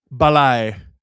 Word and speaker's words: balai: Balai. Ballet. It's spelled balai.